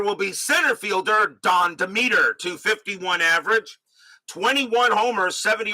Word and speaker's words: Demeter: Demeter is how they pronounced it.